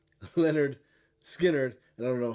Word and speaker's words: Lynyrd Skynyrd: you don't know about Lynyrd Skynyrd's debut album pronounced Leonard skinnard and I don't know